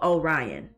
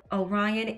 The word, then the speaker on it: Orion: Orion, if you don't, your name rhymes with lion for a reason.